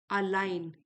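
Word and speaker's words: align: It deeps when individuals अलाइन अलाइन ji silent है।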